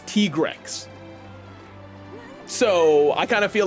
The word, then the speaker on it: Tigrex: By the way, that's how you pronounce his name. I found that out yesterday. His name is not Tigrex. That is Tigrex.